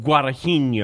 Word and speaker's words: Guadagnino: time and I can't say his name Luca Guadagnino guada Heaney oh thank you Holly by your name is